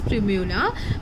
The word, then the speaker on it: primula: Whoever have selected this flower, which pronounced as primula. मैंने search किया है कि इसका प्रोनाउंसिएशन प्रिम्यूला ही है.